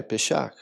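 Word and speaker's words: פסח: Inclusive a pronúncia é parecido com a palavra passar, é pechar.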